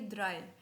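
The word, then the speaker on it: drei: मेरे साथ रिपीट करना थ्री को बोलेगे बोलेंगे ड्राई फोर को फियर फोर को फियर यर नहीं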